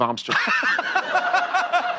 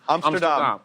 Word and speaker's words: Amsterdam: I'm going to start going with Amsterdam. Are you doing that just to with people? No, it's actually that's how You're the Dutch supposed to say pronounce it. That's how the Dutch pronounce it. Amsterdam.